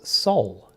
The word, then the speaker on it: SOL: So the energy said, call us soul. And I said, oh, okay, is that like soul, S-O-U-L? And they said, no, it is spelt S-O-L, and it stands for signals of love, because that is what we are.